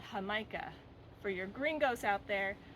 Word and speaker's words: jamaica: Caribbean where they speak Spanish this is called hamikah for your greenos out there that's spelled Jamaica but it's pronounced H now you